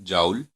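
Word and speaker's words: joule: तो यहाँ पर ई क्या है, energy of radiation in जाउल या जूल, जिसको हम कैसे इसकी प्रोनाउंसिएशन करते हैं वो अपने हिसाब से कर सकते हैं।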